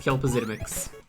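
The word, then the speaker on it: Kltpzyxm: All I know is that saying his name backwards is pronounced Kelpazidimix.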